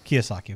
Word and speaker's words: Kiyosaki: Is that how you pronounce it? I don't even know if you... Kiyosaki.